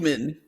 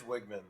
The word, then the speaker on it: Wigman: Wegman. It's horrible. Let's just decide right now. Just to clarify, it is Wigman.